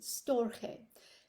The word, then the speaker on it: storge: Then you have, and this is how I believe the Greeks pronounce it, storge, spelled Storge, and this is unconditional familial love.